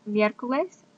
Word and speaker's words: miércoles: Next we have miércoles. Miércoles means Wednesday. Wednesday is miércoles. Repite, miércoles. Notice it has an accent on the E.